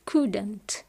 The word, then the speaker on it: couldn't: بالنسبة لي could couldn't، could couldn't، لا ننطق حرف L، could couldn't هي نفسها كان ونفس الاستعمال، نفس القاعدة، نفس ما قلناه على كان وكانت.